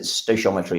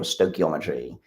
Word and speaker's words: stoichiometry: Totally wonderful bit of science is that they discovered what is called, depending on how you pronounce it, stoichiometry or stoichiometry, and this is an